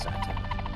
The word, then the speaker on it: Chateau: Yes, it's pronounced Chateau. I do believe that's actually a French word, Chateau. It sounds French.